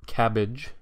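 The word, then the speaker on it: CABG: that coronary artery bypass grafts or cabbage as the acronym sort of allows us to pronounce it cabbage is is really only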